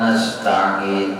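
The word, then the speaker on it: نستعين: Iyyaka na'budu wa iyyaka nasta'in, bersambung, berwasal, jangan dipisah.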